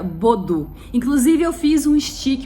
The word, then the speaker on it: Baudoux: né aqui ó escreve se escreve Baldo né mas a gente pronuncia bodo Inclusive eu fiz um